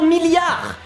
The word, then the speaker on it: milliard: So the first part is 1000. Same as treadmill, same as 1000. And then you have yard. And I would say that it's like yard.